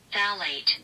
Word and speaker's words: phthalate: Phthalate. Oh, phthalate. So the pH is silent.